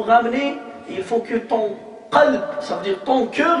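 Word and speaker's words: قلب: Un cœur saint, qalb salim. Alors tu prononces le qa mal, kalb, alors sauf si tu ramènes un chien saint.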